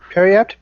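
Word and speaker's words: periapt: effaced let's say that Perry apt that doesn't sound right Perry apt PE RI apt that's how you say it though yep just feels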